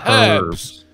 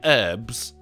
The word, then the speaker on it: herbs: It begins with an H, dickhead. It's herbs. Don't fucking glot all my stop when you're coming in and pronouncing it herbs. Herbs. It is herbs, as in Phineas and Herbs.